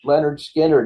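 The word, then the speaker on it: Lynyrd Skynyrd: a little southern rock Leonard Skynyrd's pronounced Leonard Skinner 1973.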